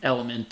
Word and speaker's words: LMNT: sodium um potassium through an electrolyte replacement like element or or one of those yeah one of